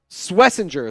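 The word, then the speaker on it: Schwesinger: Swessinger is the pronunciation.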